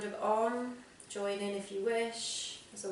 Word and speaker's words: Om: Remembering that Om is 3 syllables, Aum.